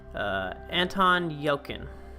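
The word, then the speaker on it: Anton Yelchin: Van Wilder, Muhammad Ali, and I want to pronounce his name correctly, Anton Yelkin.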